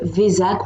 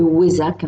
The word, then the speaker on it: Vesak: événement exceptionnel parce que c'est le VAC ou le wzac on le prononce différemment qu'est-ce que c'est c'est